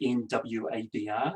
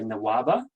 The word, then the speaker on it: NWABR: you works pretty well my preferred name shortened name for us is nwabr which comes in just seven syllables you'll hear a number of people say nawaba which is shorter to it three syllables and i can't do